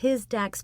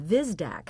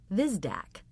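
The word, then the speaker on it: Hvizdak: The H is silent, and you pronounce the V. Vizdac.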